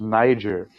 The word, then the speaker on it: Niger: Stam was like, "No, it's pronounced Niger," and it was like, "Whatever, looks like nigger to me."